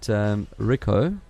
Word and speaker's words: Ricoh: And according to Ricoh, is that how you pronounce it? Ricoh. Ricoh, right. yeah. It is Ricoh, hey?